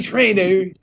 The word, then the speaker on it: Traina: Big ER at the end of that. Yeah. Hey, Jimmy Traina.